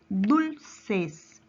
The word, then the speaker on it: dulces: Y para finalizar, en esta parte tenemos la palabra dulces. Nuevamente, dulces. Su mayor fuerza de voz recae en la penúltima sílaba.